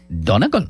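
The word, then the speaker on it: Donegal: Donagle. Donagle. Donagle.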